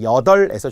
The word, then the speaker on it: 여덟: 리을 비읍은 앞에 리을. 그래서 여덟에서 출발하면 되죠. 여덟. 그래야만 리을로 발음하겠죠.